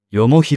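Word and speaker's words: 東西南北: 説がある東西南北と書いてよもひと読む苗字がある部屋着と寝る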